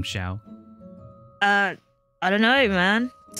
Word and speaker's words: Xiao: earlier that you're like people are pronouncing with a j sound i don't know where that jace how do you why did you get the j sound from xiao uh i don't know